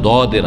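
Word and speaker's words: ض: তবে জও না, জও নয়, ওর মাঝামাঝি একটা উচ্চারণ দদের আছে, দদ।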